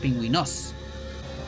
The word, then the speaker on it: pingüinos: Pingüinos, the accent is on the I, but it doesn't have a tilde. Because if it had a tilde, it will be on the O, and then it will be pronounced pingüinos instead. But because it doesn't have, you can tell that it's pingüinos. Because Spanish makes sense.